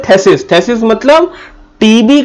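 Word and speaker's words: phthisis: थेसिस एंड प्लूर थेसिस मतलब टीबी P silent होता है पीएच साइलेंट होता है इसको बोलते हैं थेसिस थेसिस मतलब टीबी का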